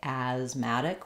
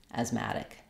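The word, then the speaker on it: asthmatic: more so I don't have to to say asmatic with a clear a it can be asmatic asmatic so it's still an a vowel but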